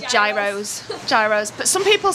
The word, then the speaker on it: gyros: it's a g no it's not it's a Euros Euros Euros that's how it's pronounced Euros Google translate says gyros gyros but some people say what's the other